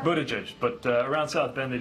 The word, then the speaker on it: Buttigieg: Buddha get Buddha gas Indiana mayor Pete Budetti pronounce your last name Buddha juice but around South Bend they just called me